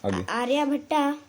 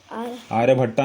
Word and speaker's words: आर्यभट्ट: आर S scholars scholars आर्य भट्टा आर्य भट्टा ए आर्य भट्टा नहीं होता है आर्य भट्ट होता है ए आर वाई ए बी एच ए ड टी ठीक है आर्य भट्ट क्या बोलेंगे आर्यभट आर्य